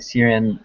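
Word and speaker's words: Ciarán: he is cool eugene syrian hinn says and uh it's a it's a irish pronunciation so it's a hard c tyrion oh boy i'm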